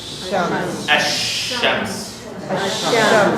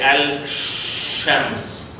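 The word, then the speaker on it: الشمس: It is ash-shams. Why we didn't say al-shams? Because it is difficult.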